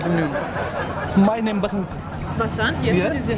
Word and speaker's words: Basant: Know what is your name my name बसंत Basant, yes, yes, what is your name?